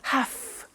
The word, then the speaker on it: have to: pronunciation i have to notice i don't say v i say f have half it becomes have to have